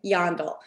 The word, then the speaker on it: Jandl: The J is like a Y and the A is like an O, but really the best way to remember how to say it is yawn. You're yawning like this dog, Jandl.